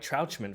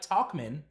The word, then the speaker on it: Tauchman: Let's talk about Mike Trouchman for a second, though. Yeah, or we can talk about Mike Tauchman.